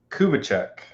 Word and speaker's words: Kubitschek: Kubitschek. Kubitschek. Yeah, exactly like it's spelled.